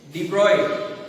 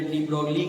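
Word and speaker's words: de Broglie: Finally डी ब्रॉय, जिसे बहुत जने डी ब्रॉगली कहते हैं लेकिन actual pronunciation डी ब्रॉय, Louis डी ब्रॉय France के एक बहुत ही जाने माने फिजिसिस्ट थे।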